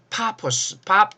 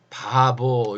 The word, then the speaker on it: 파포스: 어디서 했느냐 키프로스 섬에 파포스 포스라는 데서 했어요 키프로스의 파포스 이렇게 말하면 여러분들이 잘 못 알아들 수 있어요 원래 이게 이제 이게 원래 발음인데 이걸 성경에서는 구불로 섬의 바보 이렇게 얘기해요 바보 성경에서 가장 바보스러운